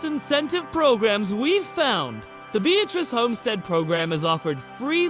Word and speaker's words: Beatrice: And yes, it's pronounced Beatrice, not like the name Beatrice. Locals will correct you immediately and enjoy doing it.